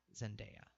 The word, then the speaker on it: Zendaya: her name is Bruce pronounced India I've been pronouncing it as India so zendaya and then there's also gonna be in the